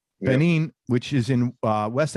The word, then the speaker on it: Benin: we'll get into it he's originally from benin is that how you pronounce it that's right benin which is in uh